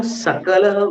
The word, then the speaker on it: सकल: शकल सकल माँ भूत, सकल शकल माँ भूत बोलते हैं कि तुम सकल को शकल मत बना देना।